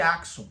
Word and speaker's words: Axum: Ou o império de Achum, como alguns falam, tá? Mas a maioria das pessoas pronunciam Axon porque a própria capital do império de Axon, ela é chamada de Axon, né? Com a S k, né? Eh, a KS, né?